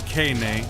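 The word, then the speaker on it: Keine: again or can a yeah that's right cane a you know I should mention he's the pronounce que neighs name a scheme like miss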